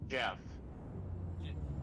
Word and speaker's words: Geoff: That's In my experience, that name is pronounced Jeff.